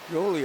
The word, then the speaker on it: Jolie: Then cleared out of the way by Jolly McKnight. Jolie, I guess, is the correct pronunciation of that.